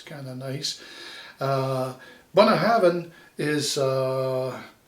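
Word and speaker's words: Bunnahabhain: a bun ah and then you put a v in for the b b and h so you go then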